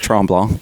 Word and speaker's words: Mont Tremblant: You know I also went uh Mont Tremblant? I don't know if I'm pronouncing that Yeah, that's right. Tremblant, yep.